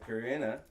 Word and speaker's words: Corinna: Corinna, I've been saying it right.